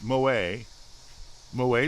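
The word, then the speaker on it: Moët: It's Moet Chandon. It's French.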